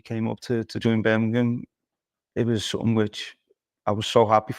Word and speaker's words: Birmingham: to join Birmingham Birmingham they don't say Birmingham they say Birmingham I think that was